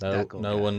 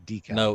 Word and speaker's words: decal: It's not pronounced decal. It's decal.